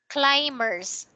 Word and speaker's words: climbers: okay and this one climbers letter B is silent climbers primers yes okay